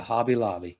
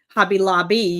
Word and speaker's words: Hobby Lobby: And I tell you what else, every time we go to Hobby Lobby, and I said it right. You usually say Hobby Lobbies. I usually put a S on it, but every time we go, I go to the model car section.